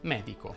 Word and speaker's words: medico: come ad esempio bene si definisce sdrucciola una parola che ha l'accento sulla terzultima sillaba come ad esempio medico la maggioranza delle parole